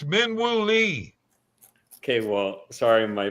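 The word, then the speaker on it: Min Woo Lee: It's Minu Lee. Okay. Well, sorry my pronunciation.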